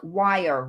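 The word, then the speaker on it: Wyre: thank you thank you it's pronounced like wire River thank you Siobhan see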